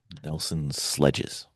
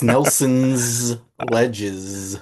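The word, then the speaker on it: Nelson Ledges: Nelson's Sledges. Nelson's ledges. Um, you said it wrong, but we'll let you live. Uh, no, it's Nelson's ledges. Oh, I thought it was Nelson's Sledges.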